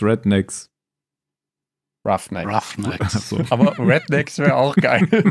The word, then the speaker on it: Roughnecks: Ich sehe seinen Namen vor mir, aber ich weiß nicht, wie er ausgesprochen wird. Redjacks, Rednecks. Roughnecks.